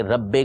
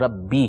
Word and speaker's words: ربی: عربی تلفظ ربی ہے. اسی طرح پیش آئے گا تو اس میں جیسے نو رو تو وہ نو رو نہیں پڑھیں گے، غفار رو پڑھیں گے، غفار رو نہیں پڑھیں گے. ٹھیک ہے. تو صحیح تلفظ جو ہے وہ ہے سبحان ربی العظیم، سبحان ربی الاعلی. صحیح. ربی ہے، ربے نہیں ہے.